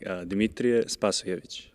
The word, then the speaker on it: Dimitriy Spazojevich: It's supposed to sound like Dimitriy Spazojevich.